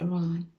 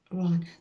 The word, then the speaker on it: Iran: It's very It's very easy to say. It's just Iran. Iran. this.